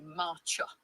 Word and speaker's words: Marcia: Marcia is a lovely Dutch name, pronounced roughly Marcha.